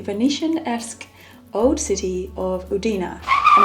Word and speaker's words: Udine: esque old city of udina and I'm very sorry when I was in oudina I was calling it oudin I didn't realize the pronunciation the great thing about